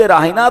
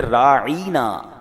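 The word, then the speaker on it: راعنا: वो भी कहते थे मगर वो उसका प्रोनाउंसिएशन चेंज कर देते थे। वो क्या कहते थे? राईना हैं। राइन के नीचे या लगा देते और लंबा कर देते उसको।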